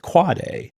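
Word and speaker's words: AAAA: You pronounce it quad A, not a if you want to hang out in a DNS savvy crowd.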